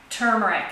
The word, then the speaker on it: turmeric: keep these in our freezer ginger and turmeric turmeric is how it's pronounced actually and that will keep it fresh